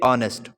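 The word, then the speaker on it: honest: द ऑनेस्ट would cutter इसे पढ़ेंगे ऑनेस्ट ऑनेस्ट भी पढ़ सकते हैं ऑनेस्ट भी पढ़ेंगे लेकिन एच को एच जो यहां पर है वह साइलेंट हो जाएगा तो इसे क्या द ऑनेस्ट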